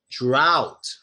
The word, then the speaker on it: drought: Drought. Bow. It's the same as bow. Bow and drought, same pronunciation.